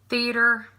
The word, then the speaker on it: theater: say that different theater I say Theater now because I'm reading it but most of the time like if I'm just talking about it I'm G to say theater I put an emphasis on the a theater iron like to iron your